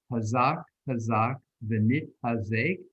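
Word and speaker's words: חזק חזק ונתחזק: And let me pronounce it for you, and then together we can say it. We say, Hazak, Hazak, Venit Hazek.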